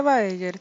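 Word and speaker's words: Baeyer: baeger es el nombre se escribe Bayern pero se dice Bayer y este obviamente es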